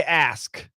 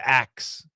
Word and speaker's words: ask: so once again say say ask don't say axe if you axe somebody you might kill them don't be killing anybody all right say ask but yeah you you may hear some Americans say A you won't hear me saying it I don't say axe if I say axe it's a joke say ask uh youu back after